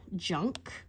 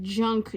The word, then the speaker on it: Junque: emphasis on the uh junk part this this when they write it they spell it junk j-u-n not KU q-u-e you know to make it look like fancy yeah it was it